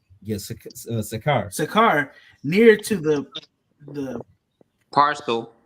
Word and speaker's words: Sychar: Yes, Sakar.